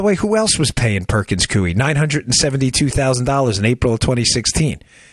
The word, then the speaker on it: Perkins Coie: Perkins Coie. I just did, that's why I didn't look up how it's pronounced.